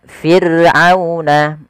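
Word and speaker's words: فِرْعَوْنَ: Kemudian fir'auna ada ra sukun didahului dengan huruf kasrah, maka dia dibaca dengan ra tarqiq, ra yang tipis, tidak boleh ditebalkan, tidak boleh fir'auna, tidak boleh ya, tapi dia tipis.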